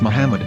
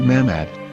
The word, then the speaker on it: Muhammad: yehuda's Hebrew English dictionary it is correctly pronounced as Muhammad not mmad so how we're going